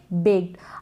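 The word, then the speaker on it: baked: अब यहाँ पर बेक्ड नहीं पढ़ेंगे, ड का साउंड नहीं आएगा। क्यों नहीं आएगा? जैसे मैंने आपको ये बता दिया, ये सभी होंगे तब हम ईडी को ट प्रोनाउंस करते हैं, लेकिन वॉइसलेस होगा, याद रखें। बेक्ड, ठीक है, बेक्ड।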